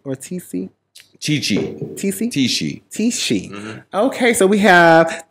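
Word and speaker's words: Tisci: Tishi. Mm-hmm. Okay, so we have the House of Tishi, the House of Tishi. Miyake Mugler. Tishi.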